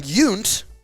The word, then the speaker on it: Yount: Robin Yount because that's how it's pronounced, is the number 1 Milwaukee Brewer.